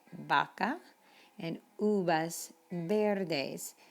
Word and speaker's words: vaca: We don't say vaca, we say vaca, and uvas verdes. So the V sounds like the letter B in Spanish, vamos.